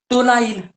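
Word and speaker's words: tolyl: आणि हे आता मनावर माझ्यासोबत टोलाईल. टोल द्यायचा बघा. टोल नका टोलाईल अशी त्याची स्पेलिंग. टोलाईल.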